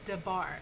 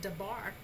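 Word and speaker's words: דבר: So your first syllable is da, the daleth and the comments. That's your first syllable. And then your second syllable is your baith, comments, resh.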